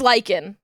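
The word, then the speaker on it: Lichen: This guy is also This is Lykan. This is and spelled L I C H E N. like the moss and then scribe spelled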